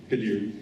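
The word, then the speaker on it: Khadir: first elected Amir Kadir, I'm sorry, can you pronounce that? Kadir.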